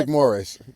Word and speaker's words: McMorris: McMorris.